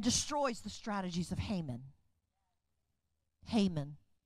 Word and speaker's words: Haman: Haman. Not Hamon.